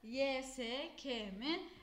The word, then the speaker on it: YSK: yazacağız diyoruz YSK mı yesek emi Evet arkadaşlar YSK şeklinde bir okumuş olamaz bunun okunuşu yesek e şeklinde karşımıza çıkacak bunu söylememin sebebi ne arkadaşlar